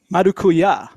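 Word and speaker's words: maracuyá: It's a fruited sour ale, and it has mango as well as Marukuya.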